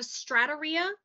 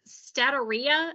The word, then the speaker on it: steatorrhea: So you may have stratorrhea. I'm sorry, I said that wrong. Oh, I can't pronounce that. 2 seconds. Nope. Bethany. What you got? Where you at? I went it's statorrhea.